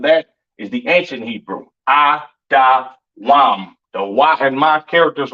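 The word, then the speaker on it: אדום: Edom, Idawam, the devil that the Bible speaks of, your oppressor, the so-called Caucasian man, woman, and child, pronounced Idawam.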